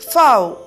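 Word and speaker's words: får: In Danish, sheep is fow.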